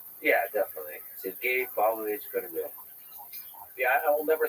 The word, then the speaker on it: Korolev: And from listening to native speakers, it's closer to Krylyov than it is Korolev. Yeah, definitely. Sergei Pavlovich Korolev.